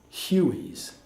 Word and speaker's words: Huey: and that number uh-1 they were called Huey's phonetically you H I so they call them Huey's and they have they're